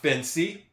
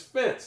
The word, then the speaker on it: fence: It's not fancy. It's not fancy. It's fence. There's another vowel. There's another e in that word before the e that's at the end. Therefore, the e at the end is silent.